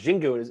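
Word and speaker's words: Xingu: And they had one from Brazil, and it was Jingu. It's spelled with an X, and I was just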